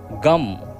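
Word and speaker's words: गं: गण के आदि अर्थात ग, कर पहले उच्चारण करें, उसके बाद वर्णों के आदि अर्थात अ उच्चारण करें, उसके बाद अनुस्वार उच्चारित होता है। इस प्रकार अर्धचंद्र से सुशोभित गम ओमकार से अवरुद्ध होने पर तुम्हारे बीज मंत्र का स्वरूप ओम गम है।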